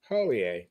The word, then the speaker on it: Hollier: here thanks for Adam Holier now listen pronounce your name because I everybody says it says it's different now right from the horse's mouth O A okay O A okay yep H is silent i e RX how